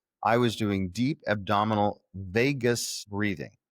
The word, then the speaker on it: vagus: That oxygenates this nerve that runs through the center of your body called the vagus nerve. It's not spelled like Vegas, Vegas, like Las Vegas.